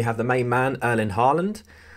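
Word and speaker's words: Haaland: the main man erlin harland or holland as uh i think it's correctly pronounced um youngest record youngster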